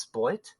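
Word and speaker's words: Spl-t: Cosmo Spin, Bumpy Road, Beat Sneak, Bandit, Year Walk, Device 6, The Sailor's Dream, and I guess it's pronounced Split. SPL hyphen T.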